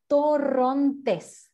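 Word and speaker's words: Torrontés: our emblematic white wine to pronounce it you have to roll your r so it's torrentes that's how we call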